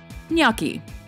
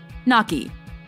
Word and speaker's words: gnocchi: Gnocchi. Common mispronunciation, gnocchi. Correct pronunciation, gnocchi.